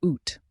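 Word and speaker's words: août: sun August in French is a which you pronounce UT like the sound in boot it's often the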